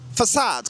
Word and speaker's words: façade: Ici, on dira plutôt façade, comme en français.